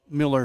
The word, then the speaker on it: Mueller: So, I guess there's the second game, but that's down the hill on uh Miller Field, spelled Mueller, pronounced Miller, I believe.